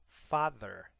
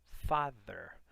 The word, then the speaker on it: father: temos father father tá lembra que a língua entre os dentes quando você precisa pronunciar o th né língua inglesa é um som que nós não temos na língua portuguesa Então não é só Father com som de D não Father ver tá muito